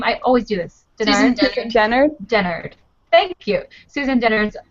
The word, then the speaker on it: Dennard: Susan Dennard?